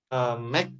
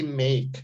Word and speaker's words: make: Sama kayak membuat ya, bukan make tapi make. Jadi tengahnya tuh A.